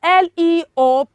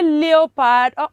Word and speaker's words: leopard: beautiful okay so the second word we have l-e-o-p-a-r-d how do you pronounce that word children you say leopard oh it is wrong it is leopard what